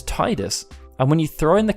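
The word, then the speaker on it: Tidus: start with that sound most of the words like tide tidal and tidy start with the tide sound therefore the weight would naturally be interpreted as an English speaker to me was Titus and when he throwing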